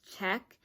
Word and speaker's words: check: You don't hear the C in check. So people may think it's spelled CHEK. They don't hear that C in check. They just think it ends with a K instead of a CK.